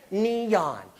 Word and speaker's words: neon: Neon. But what is that rule? Oh my goodness, two vowels together that don't make a team. I have to pronounce both of their names.